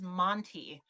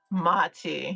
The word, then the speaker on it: mati: I thought it was Monty. The eyes, yeah. I freaking. Oh, I made a pendant, Tober. There was a Is it Mati? There was a Mati. Okay, yeah. I've been saying it wrong this whole time. Thank you. Mati. Yeah, I've definitely just added an N.